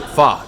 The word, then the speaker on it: pho: And so I've been saying it wrong for years. It's pho, not pho.